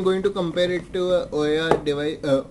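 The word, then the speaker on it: OUYA: to compare it to oya device oer device it is pronounced oh yeah i think we are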